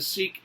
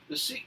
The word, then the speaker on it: Sikh: And the Sikh community, I should say, in the West, we usually, in English anyways, we usually pronounce this word as Sikh. The Sikhs themselves, they generally pronounce it Sikh.